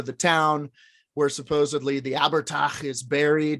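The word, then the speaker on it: abhartach: So Abertach, pronounced Abertach, Irish for dwarf, is an early Irish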